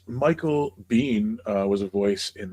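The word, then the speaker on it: Biehn: his wife that it is indeed Bean. Yeah. Is it like B E? Yeah. Except Except not spelled that way at all. Yeah, except it's spelled bean.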